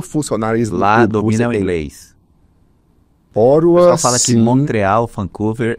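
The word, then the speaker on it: Ottawa: é oro né você a gente fala otau É otau mas eles pronunciam orua lá então oro é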